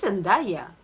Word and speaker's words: Zendaya: It's Zendaya. I don't know how American pronounce it, but Well, Jaehyun likes them academic, intellectual, and women of color.